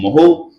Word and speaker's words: mho: एक तो इसको बोलते हैं मोहो या फिर और दूसरे टर्म से बोलते हैं इसको साइमन।